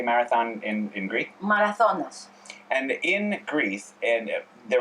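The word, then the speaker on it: Μαραθώνας: Marathonas.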